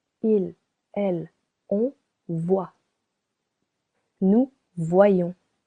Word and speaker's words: voyons: il on voit nous voyons. Nous voyons here we want to make it two syllables. Vois and yon. To do so we need to change letter I to letter Y. Nous voyons.